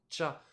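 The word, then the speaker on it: 茶: japonaises qui existent et qui se prononce donc cha on a déjà vu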